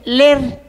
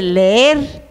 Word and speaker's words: leer: a a Sargento Nuño que no se dice ler se dice leer ya la pobre niña